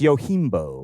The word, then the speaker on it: Yojimbo: your gym so thank you for that it's yo Keem bow 1961 directed by Akira Kurosawa a crafty Ronin